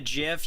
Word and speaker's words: GIF: This is why it's called GIF and not GIF. It's because it's graphics interchange format. It's not JIF interchange for it's not Jaffix.